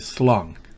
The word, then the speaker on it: slung: Slung. Slung. Recuerden, esa G no se pronuncia destacadamente. Es apenas slung.